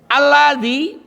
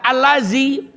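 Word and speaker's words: الذي: Alladzi maknanya yang, dibaca allazi nempel. Allazi maknanya nempel. Kalau alladzi adalah.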